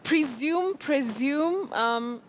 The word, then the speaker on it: presume: Presume.